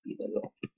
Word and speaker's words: pídelo: Accent goes on third last syllable. Pídelo.